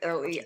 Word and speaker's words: Leo: how do you sp is it Leo like L EO Leo like the lion oh okay so I